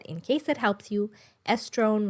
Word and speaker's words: estrone: case it helps you estrone rhymes with crohn so estradiol estriol and